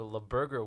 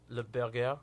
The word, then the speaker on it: Le Burger: We also have the kickoff to La Burger Week on Friday, which is participating restaurants. No, Zayn, you got to say it right. Le Burger. Le Burger. Le Burger Week.